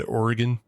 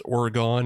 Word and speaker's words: Oregon: Look, which is the bad Oregon? There's Oregon and Oregon. Oregon it's Oregon is how the locals say it. But yeah, a lot of people like to emphasize that Oregon.